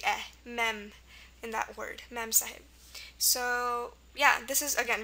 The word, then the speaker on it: Mem Sahib: An example of this rule is Mem Sahib, M-E-M-S-A-H-I-B. And then here you have the E for the eh, mem, in that word, Mem Sahib.